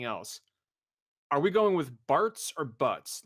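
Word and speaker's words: Bartz: The PlayStation version was Butts, right? And then was it the Game Boy Advance version? It was corrected it to Barts, which is the official spelling and pronunciation and everything after that.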